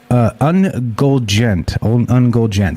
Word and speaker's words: Ungoliant: And yes, the name is pronounced Ungoliant, but it's spelled Ungolint.